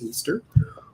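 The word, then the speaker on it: Ishtar: you spell it but that's her name is pronounced easter or ostara if you are german and that's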